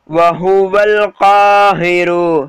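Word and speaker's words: وَهُوَ ٱلْقَاهِرُ: அடுத்தது பாருங்க, ஹு அதாவது வஹுவல் காஹிரு சொல்லுங்க, வஹு அது வா பக்கத்தில் அலிஃப் சைலண்ட், வஹுவல் கா, கா கொஞ்சம் இழுக்கணும், ஹை சாதாரமாக வரும் ஓகேங்களா, வஹுவல் காஹிரு சொல்லுங்க, வஹுவல்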